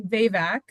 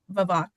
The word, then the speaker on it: Vavak: And you pronounce it actually VVAC. Oh, a lot of people say Yeah, a lot of people say vavvach, but yeah, and um I'm so happy to be here.